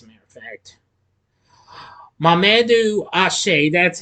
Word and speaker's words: Athie: very good as a matter of fact Mamadou ashay that's how you say it who more recently